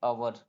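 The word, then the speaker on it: hour: ओ आ रहा है एच शुरू में आ रहा तो इसमें जो एच है वो साइलेंट हो जाएगा क्या हो जाएगा साइलेंट हो जाएगा तो इसे पढ़ेंगे अवर क्या पढ़ेंगे अवर पढ़ेंगे यानी एच ओ यू आर को हम अवर पढ़ेंगे इसमें जो एच की जो एच का जो प्रोनंसिएशन है वो साइलेंट हो जाता है उसी प्रकार एच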